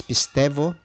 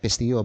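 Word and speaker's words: pisteuō: Now, sometimes they call it pisteo, but this is Kine-Greek. In some pronunciations, the upsilon becomes V or F. Okay, so when it is preceded by alpha, epsilon, or eta.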